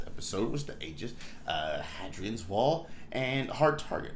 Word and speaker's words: Hadrian: any reference to the hadrians wall the made the northern edge of the Roman Empire and uh Britannia separating it from the P then is pronounced like ha A Y Hadrian hadrien yeah it is also